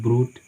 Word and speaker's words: brought: जैसे ब्रूथ, BROUGHT, ठीक है, तो यहाँ पर भी जी एच साइलेंट है, पढ़ते हैं ब्रूट, ये जी एच क्या है, साइलेंट है।